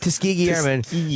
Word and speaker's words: Tuskegee: wow okay now I get he's using the tuskiji how do you say it Tuskegee to bludgeon young black males with and he's